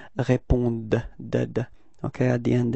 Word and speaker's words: répondent: don't pronounce them, so E-N-T is actually not pronounced, it's only répondent.